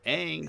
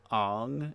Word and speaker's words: Aang: be fair, Aang sounds very Midwestern. Like Aang sounds like if you saw Ong and you were trying to pronounce, you'd be like Aang.